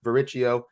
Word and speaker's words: Varricchio: with on multiple occasions it is ruthless varicio uh please tell me I pronounced it correctly but Robin that's very impressive